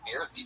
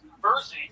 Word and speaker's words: Bersey: The fucking Beersy triplets. Tell us something interesting about you guys. Our name is pronounced Bersey triplets, like Jersey.